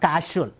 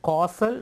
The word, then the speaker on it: causal: he says that's our causal state of existence not casual some people read a partial body one way this food is a casual also but there it is that's not the Raiders to be pronounced it is causal body it causes it determines